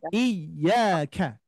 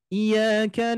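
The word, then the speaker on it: إِيَّاكَ: jadi Bapak Ibu sekalian seringki terdengar pengucapan iyanya menjadi bukan Iya tapi iyaka na'budu wa iyaka nasta bisa jadi di antara kita mungkin ada yang mengucapkan seperti atau misalkan kita pernah mendengar ada yang yang membaca seperti itu kalau membaca seperti itu ternyata kalau kita teliti dan juga pengucapannya tanpa ada ynya dua gitu kan Ya Maka nanti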